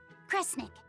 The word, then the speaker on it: Kresnik: Cre, snira, cre, snick. Kresnik. Kresnik feels right somehow.